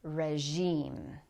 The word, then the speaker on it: regime: This letter is not commonly used in English words, but in these words, we use the sound zh. The first one is regime.